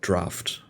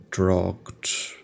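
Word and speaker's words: draught: until I learned that this word is pronounced something like draft I always pronounce a draw drought like like the zombies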